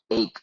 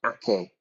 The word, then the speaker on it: ache: is for Spanish students okay ache a c h e yeah it's not AK yeah it's ache think